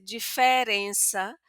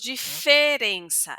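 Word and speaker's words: diferença: abrir esta e que van a decir diferenza, pero aquí en mi región San Paulo decimos diferencia. Ese e va a ser un poquito más cerrado, pero no será nasal.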